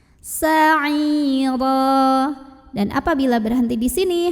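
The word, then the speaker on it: سَعِيرًا: Sa'ira, huruf ra dibunyikan secara tafkhim karena ro-nya berbaris tanwin fathah, maka bacanya ditebalkan. Sa'ira.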